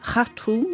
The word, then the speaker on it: Khartoum: Well, as you know, Melissa, shortly after the beginning of the war in April 2023, Khartoum Khartoum, I think as they pronounce it locally there, it was taken over